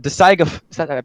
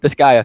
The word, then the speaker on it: Disgaea: The Disgaea, that's how you pronounce it. Disgaea 1, it's on mobile. Disgaea, thank you.